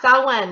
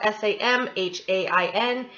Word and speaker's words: Samhain: Now that's how it's pronounced, Samhain. It's spelled S-A-M-H-A-I-N. Pronounced Samhain, kind of like S-O-W-W-E-N, okay?